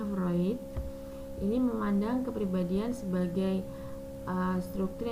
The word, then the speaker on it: Freud: Nah, kalau dari Freud ini ya, jangan dibaca Freud ya, bacanya Freud.